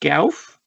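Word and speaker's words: Gouf: Yeah, I kind of think it's usually pronounced Gauf.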